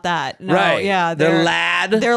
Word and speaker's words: LAD: um lad Bible group how do you say I always call them La I always thought they were out of la oh really it's lad like a British term for like a British guy L every time I've